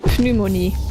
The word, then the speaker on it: pneumonie: Sometimes I want to pronounce it the French way, I guess, because in French you'd pronounce it pneumonie.